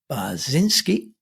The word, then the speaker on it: Bachynski: Josh binski I think I probably said your name wrong haven't I Josh I'm G do that again that's that's the Polish pronunciation that was actually perfectly correct in in the Ukrainian polish pronunciation yes oh okay I'm